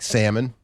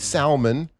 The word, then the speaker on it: salmon: Um like salmon. You know, you don't really say the L. Looks like right? Yeah, looks like salmon.